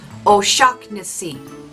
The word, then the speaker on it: O'Shaughnessy: It's O'Shaughnessy, like electric shock and then Nissy.